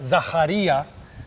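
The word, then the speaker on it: Ζαχαρίας: both cultures so in Greek in Greek it's pronounced zacharya and in Arabic it's Zakaria oh how cool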